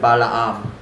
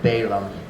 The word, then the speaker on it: Balaam: Oh, you might pronounce it Balaam. We pronounce it Balaam.